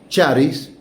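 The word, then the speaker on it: χάρις: Sa gracia y paz corresponden a la expresión harien o haris, que algunos pronuncian charis y que tiene que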